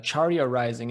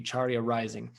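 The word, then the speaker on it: Carya Rising: website it's called uh charia rising and it's spelled a little bit differently it's um it comes from a sanskrit word and so it's actually c-a-r-y-a-r-i-s-i-n-g charia rising and charia just means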